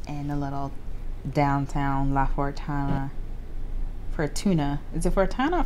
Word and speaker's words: Fortuna: a little downtown La Fortuna. Fortuna. Is it Fortuna or Fortuna? It's probably Fortuna. Sorry if I said Fortuna. That was a whole video. It's Fortuna.